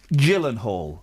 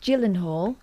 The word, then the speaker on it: Gyllenhaal: Gyllenhaal. Yeah, it's a soft G.